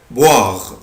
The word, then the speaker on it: boire: verbe boire، boire، boire يعني يشرب. عود نفسك الاو اي او الاو اي بالانجلش بنطقها وا، boire يعني يشرب.